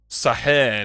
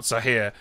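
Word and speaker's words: ساحر: If so, it's pronounced Sahir, not Sahir.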